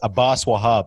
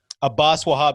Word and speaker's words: Abbas Wahab: lot of people it's it's pronounced abbas abbas wahab at best obviously you know it's abbas but uh a boss will hop so every time people